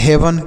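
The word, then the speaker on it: heaven: उसके बाद है एच ई ए वी ई एन, तो इसे पढ़ेंगे हेवन।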